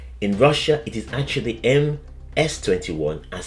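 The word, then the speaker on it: МС-21: In Russia, it is actually M S21 as C is pronounced as S in the Russian alphabet, but I will stick with calling it the MC21.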